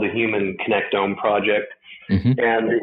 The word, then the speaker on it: connectome: is this thing called I'm going to pronounce it wrong, I'm probably sure, but a connectome. Is that how you say it? Yeah, that's exactly right.